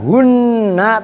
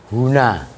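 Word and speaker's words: هنا: Jadi bukan hunna tapi huna.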